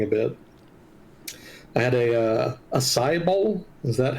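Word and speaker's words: açaí: I had a acai bowl. Is that how it's pronounced?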